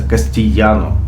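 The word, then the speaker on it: castellano: Внутри Испании испанский язык называется кастильяно, а пишется буква «Е» в испанском языке формируется 2 буквами «Л». То есть 2 буквы «Л» это «Е».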